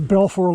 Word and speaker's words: Balfour: Yeah, so this is Balfour Lake. So it's North Aylen Lake Road. And it's spelled B-A-L-F-O-U-R, Lake. I only started coming in here just this year.